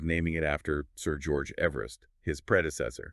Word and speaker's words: Everest: And it's kind of funny the way we pronounce Everest today, it's different from how Sir George himself pronounced his name. Oh, really? Yeah. His pronunciation was closer to Eevee vistrist.